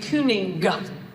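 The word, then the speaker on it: cyning: you would actually say kuning G the G was actually pronounced in a word like that wasn't broken.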